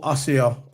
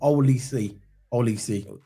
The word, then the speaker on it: Olise: Michael Osio. Is that his name? Is that how you pronounce it? Oliso. Olise.